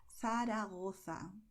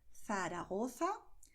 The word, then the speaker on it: Zaragoza: you say in Spanish Zaragoza. Okay, so you're going to lisp here when you see these combinations.